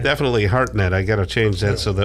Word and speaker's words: Hartnett: Hartnett, yes. Okay, well, it's spelled absolutely wrong.